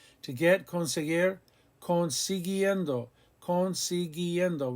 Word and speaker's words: consiguiendo: To get, conseguir, consiguiendo, consiguiendo. We keep the U after the G because we want the hard G sound.